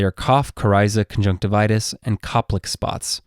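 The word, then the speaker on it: Koplik: kough Kiza conjunctivitis and Copic spots while the last one starts with a K it still has the hard C Sound therefore this is referred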